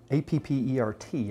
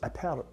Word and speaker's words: Appert: A fellow by the name of Nicholas Appert, A-P-P-E-R-T, I'm trying to pronounce it like my buddy wow.